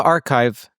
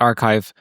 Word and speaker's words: arXiv: Now on the archive for those people who are listening who aren't researchers there's something called a arxiv pronounced archive sometimes at least pronounced archive where researchers post and